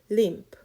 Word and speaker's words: limp: 프 발음 살짝 해주셔야 돼요.